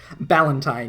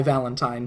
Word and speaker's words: Ballantine: Valentine with a B? Ballantine, yes, not my Valentine.